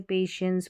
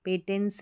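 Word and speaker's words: patience: देखिए इसे पेशेंस पढ़ेंगे, पेटेंस नहीं पढ़ेंगे, TI एंड कॉन्फिडेंस के साथ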